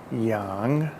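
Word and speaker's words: 杨: to left that first word is none and phonetically spelled n-a-n and that's the word for South none the second word is Young and that is a famous surname in Chinese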